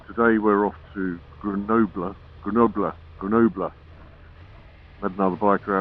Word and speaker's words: Grenoble: today we're off to greno grener grener had another biker outside the hotel the morning he corrected me on my uh pronunciation I was saying Grenoble it's not it's Gren apparently we're off there today